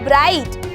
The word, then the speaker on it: bright: ऐसे ही अगर मैं बोलूँ ब्राइट, तो यहाँ पे भी BRIGHT, GH हमारा बीच में आया तो ये क्या हो जाएगा, ये भी हमारा साइलेंट हो जाएगा।